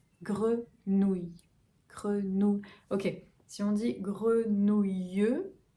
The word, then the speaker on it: grenouille: La deuxième partie, nous, comme nous, grenou, et enfin, y.